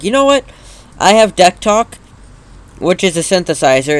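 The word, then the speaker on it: DECtalk: was just like you know what I have deck talk which is a synthesizer it's been used for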